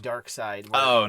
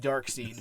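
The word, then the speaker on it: Darkseid: No, it's just spelled apocalypse regular DC dark side. It's definitely pronounced dark seed based off the spelling, but that's fine.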